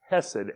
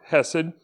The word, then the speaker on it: hesed: i'm just going to use the english pronunciation for that and it's basically hesed h-e-s-e-d so that word